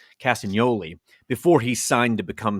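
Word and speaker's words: Castagnoli: had with claudo cast castan Yoli the g is silent castan Yoli before he signed to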